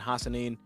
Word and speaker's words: Hassanin: Williams and Hassanin. Okay, I said it right. I always, if it's hard to pronounce, I cut off the name to two half.